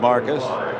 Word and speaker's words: Marvcus: Marvcus, pronounced Marcus.